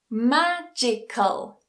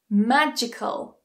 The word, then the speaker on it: magical: on the syllable before it but on the syllable before that for example critical critical magical magical historical historical a longer one economical so again